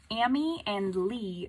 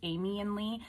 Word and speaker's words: Ami & Li: Maybe it's Amy and Lee, but it's spelled A-M-I and L-I. So Amy and Lee, I believe is how you pronounce that.